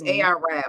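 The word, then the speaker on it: AR-Ab: Is spelled Arab, but it's AR Rab.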